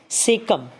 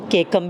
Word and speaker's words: caecum: कहीं कहीं पे इसको प्रोनाउंसिएशन में सीकम बोल देते हैं, कहीं कहीं पे इसको केकम भी बोलते हैं। सो CAE सीकम या केकम, बट इसका ज़्यादा प्रोनाउंसिएशन मेरे हिसाब से केकम होना चाहिए बेटा, ठीक है।